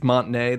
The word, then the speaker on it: Montinea: Uh well yeah this this place like you you said it's Montinea. That's how you say it.